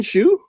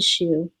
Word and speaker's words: Shiu: I should have asked her how to pronounce her name before we started. Is it Shiu? No, it's Shiu.